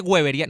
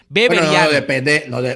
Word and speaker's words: weberiano: O sea, esa gente que no es weberiano, hay gente que dice weberiano, no, es una grosería, es beberiano. Depende de cuál sea la pronunciación. La pronunciación es con W, es con B, dice beberiano.